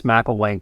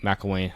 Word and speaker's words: Mcllwaine: And it's Mcllwaine, just as an FYI. It's hard to pronounce, and everybody fumbles through it. So there's an A that doesn't exist.